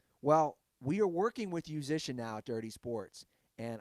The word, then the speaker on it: Yousician: It's spelled, Musician. Spelled YOUSICIAN. Like musician, but you.